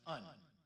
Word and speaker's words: een: without the exit Marks is an Exception in Dutch it's pronounced un and to help you